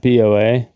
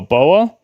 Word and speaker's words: BoA: Not BA. Say it like Bao. Oh, Boa.